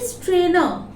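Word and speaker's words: strainer: देखिए फिर से हम लोग आर का प्रोनाउंसिएशन नहीं कर रहे हैं, स्ट्रेनर, न में रुक जा रहे हैं, टी स्ट्रेनर।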